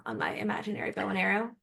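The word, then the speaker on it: Areo: Maybe like bow and arrow. Arrow? Arrow. It's spelled Aeroh, but you don't have to know that to say it on a podcast.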